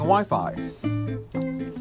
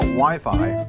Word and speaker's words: Wi-Fi: It was just put there to make it rhyme with hi-fi, which is an old audio term. Now, before I explain about Wi-Fi, or wireless internet, I